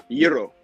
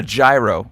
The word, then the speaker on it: gyro: Euro. Euro. Okay. So the first G is a Y. Euro. I know, but like in Boston, everyone calls it a gyro, like so much to